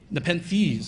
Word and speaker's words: Nepenthes: One's called Nepenthes, and I'm probably mispronouncing that because it's some, Nepenthes.